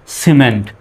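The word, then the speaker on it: cement: তাহলে হয়ে গেল কি সিমেন্ট সির পরে যেহেতু ই আসছে এজন্য সির উচ্চারণ কিসের মত সর মত হবে এখন আর কিমেন্ট বলা যাবে না সিমেন্ট দ্বিতীয় শব্দটা দেখুন সি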